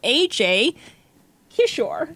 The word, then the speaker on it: Ajay Kishore: Welcome to the show, Ajay Kishore.